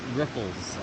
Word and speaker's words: riffles: It's pronounced Riffles with 2 F's. So the water ripples over the rocks.